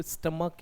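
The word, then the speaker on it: stomach: सही प्रोनाउंसिएशन तो स्टमक है, स्टमक, तो ये बनेगा स्टमक एक, यानी पेट।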